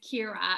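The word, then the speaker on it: Ciara: It doesn't look the way it sounds, but in Ireland it is Kira, as if it's K-E-R-A-H.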